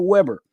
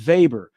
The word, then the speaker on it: Weber: would talk about at life Z was Ernest vber now V I said V instead of Weber okay German V's pronoun way W's pronounce is V's so Ernest vber uh he was he was a physiologist okay